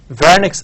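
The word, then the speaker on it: Wernicke: Broca's aphasia and then we have vernix aphasia this is pronounced as V so Broca's aphasia and vernix aphasia for this patient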